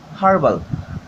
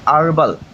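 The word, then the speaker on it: herbal: উচ্চারিত উচ্চারণ হবে হচ্ছে আরবাল কি হবে আরবাল এইচ উচ্চারিত হবে না তা যেহেতু আরবাল উচ্চারিত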